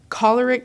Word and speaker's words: choleric: He's a 3W8 Enneagram, choleric sanguine, and What you pronounce this like cholera.